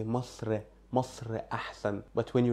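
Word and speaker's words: مصر: An example, Masr, Masr, Egypt, doesn't have eh at the end.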